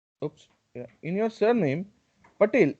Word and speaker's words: Patel: In your surname, Patel, E is pronounced as E means A, A.